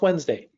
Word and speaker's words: Wednesday: right like wedness day wetness day but it's pronounced Wednesday that's called chunking sometimes they call it chunking